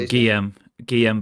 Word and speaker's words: Guillem: Guillem, is it? Yeah, Guillem Balaguer.